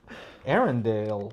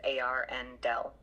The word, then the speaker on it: Arendal: Arendal is pronounced as A-R-N-Del. The emphasis is on the first syllable, with air sounding like the word for the atmosphere, followed by a short N sound, and ending with Dell, like in Dell Computer.